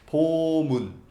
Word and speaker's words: Bomun: Yeah, but I don't know how to pronounce the previous part. Bomun.